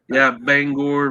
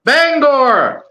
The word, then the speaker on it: Bangor: No, it's Bangor, Maine's airport. That's the only time we say an R. Bangor.